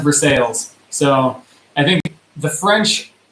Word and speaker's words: Versailles: Yeah, it's pronounced Versailles.